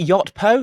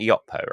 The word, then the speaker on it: Yotpo: I'm joined today by two partners in crime, Doron and Liran of, is it Yotpo? Am I pronouncing that correctly? Yeah, 50% of us are from Yotpo, yes.